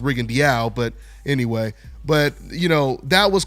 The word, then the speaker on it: Rigondeaux: Guillermo Rigondeaux, or Rigondeaux, which Rigo told me is actually pronounced Rigondeaux, but anyway.